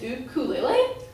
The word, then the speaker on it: ukulele: know that the correct pronunciation for the word ukulele is ukulele?